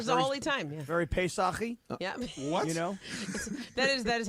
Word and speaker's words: Pesach: Very Pesach-y. Yeah. What? That is how you say Passover in Pesach. Hebrew. Pesach.